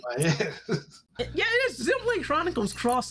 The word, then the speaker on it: Xenoblade Chronicles X: So super nerdy guy, friend of the channel, came in and he said it's actually pronounced Xenoblade Chronicles Cross.